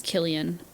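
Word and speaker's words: Cillian: oh that's weird oh I think it is Killian yeah I looked up pronunciation and it goes pronunciation no legit it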